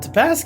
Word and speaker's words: Te Paske: Well, we're really excited to have Joelle Te Paske here. Is that the way you pronounce it?